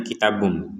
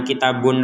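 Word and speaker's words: كتاب: domain ini kepada mim sehingga bacanya kitabumi bumi bumi bum jadinya kitabm bukan kitabun lagi bukan kitabun lagi kecuali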